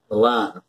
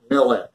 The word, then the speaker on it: Milan: Throughout the play, this word is pronounced Millin, M-I-L-L-I-N, with the accent on the first syllable, as in the word millinery.